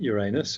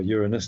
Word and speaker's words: Uranus: That was not just about the planet Uranus, or Uranus, depending on how you want to pronounce it.